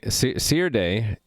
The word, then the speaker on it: Serde: from the top saturday see your day i'm trying to pronounce it as in serialization d serialization so c r d